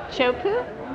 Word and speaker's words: Teahupo'o: And so Alex, congratulations on your Teahupo'o award for Best Barrel in Teahupo'o, Yes. Tahiti. Very good All pronouncing it.